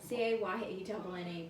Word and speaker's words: cayenne: So, How do you spell it? oh, I just need cumin and cayenne pepper. What? C-A-Y-E-N-N-E pepper.